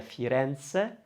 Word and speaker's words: Firenze: one with the a we're probably going to open that one so it's going to sound a lot better to hear firenze fire fireance rather than